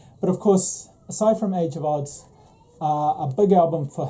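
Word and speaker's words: The Age of Adz: recommend age of odds so even though it's about adz age of odds is how it's pronounced and this is a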